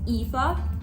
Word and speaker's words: Aoife: The female main character is Aoife, but I used to say Eve, so I think I'm gonna keep calling her Eve because I called her Eve.